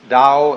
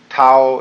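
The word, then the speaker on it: 道: the da ta AO pronounced Dao in the Mandarin dialect Tao in the changhai dialect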